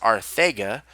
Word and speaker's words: Arcega: Arcega-Whiteside to the Eagles, and it's actually pronounced Arthega, with the TH instead of a C for Sega.